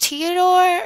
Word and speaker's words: Teodor: I'm just gonna have Jessica call Teodor. Is it pronounced Teodor or Theodore? I mean, there's no H, but I'm pronouncing it Teodor.